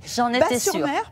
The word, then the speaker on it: Batz-sur-Mer: voir parce qu'en fait on prononce pas le Z on dit j'en ai pas sur mer parce que ici on